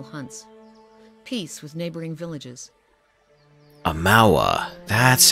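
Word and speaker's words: Amaua: Amawa. That's how you pronounce it.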